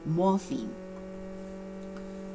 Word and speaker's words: morpheme: multiple, so it's another morpheme. 注意我们当学这3个词的时候呢，这3个术语的时候phonetics, philology and morphology. 如果呢你觉得好难记住那就要先记住它们的词根。For example, 这个 phonetics and philology, P-H-O-N-E, P-H-O-N, 它们都跟声音有关，例如 phone, OK? P-H-O-N-E, 电话。然后呢，这个L-O-G-Y, morphology, 跟学派有关，例如 biology. Morpheme, 这个很重要的词，好像很难记，很难发音重音在第一个 stresses on the first syllable.